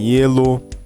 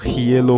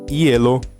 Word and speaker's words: hielo: O H, ele é mudo, tá? Em espanhol, ele é mudo quando ele está no começo da palavra, tá? Como em hielo, hueso, helado, tá?